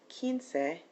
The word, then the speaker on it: quince: As far as 15 is concerned, quince, please note that when you see a QU in Spanish, it's going to have a hard K sound like a K or a C.